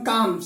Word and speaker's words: calm: আ, একটা এক্সাম্পল দিলাম, যেমন কাম CALM, 4টে লেটার আছে, 4টে লেটার মধ্যে দেখে নেব কনসোনেন্ট সাইলেন্ট কটা আছে। এখানে সাইলেন্ট এল সাইলেন্ট আছে, তো এলটা আমরা করব না।